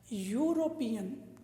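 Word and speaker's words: European: लेकिन स्पेलिंग से मुझे मतलब नहीं है, मुझे मतलब है इसका उच्चारण क्या आ रहा है, यूरोपियन।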